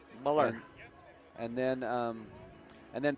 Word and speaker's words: Muller: Um Sam Sam Muller is correct the correct pronunciation according to correct in in according to coach Porter, Muller.